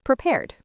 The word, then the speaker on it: prepared: For prepare, it's just prepared, one syllable.